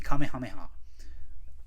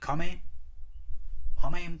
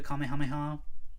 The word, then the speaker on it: Kamehameha: time he says it, he would go the Kame Hamea. And I'm like, it's not Kamehameha.